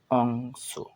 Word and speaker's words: অংশ: যেমন অংশ, অ অনুস্বার অং তালে স, অর্থাৎ এর সম্পূর্ণ উচ্চারণ হবে অংশ।